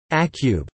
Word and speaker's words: acu: words ending in vowels, such as acu pronounced as acube and leo pronounced as leohab.